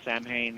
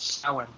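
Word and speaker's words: Samhain: kind of coming up on here you know Sam Hayne and and uh Halloween it's just so you know it's pronounced s it's spelled Sam Hayne but pronounced sin just so you know oh thank you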